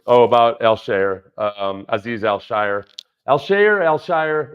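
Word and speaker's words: Al-Shaair: Alshire. It's not pronounced Alshire. It's Alshire or Alshire.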